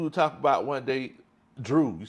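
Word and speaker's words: Dreaux: How you spell it? D-R-E-A-U-X. Oh, okay. Drew. Like Yeah, the like the New Louisiana Orleans. folk. Yeah, okay. Louisiana way to spell stuff.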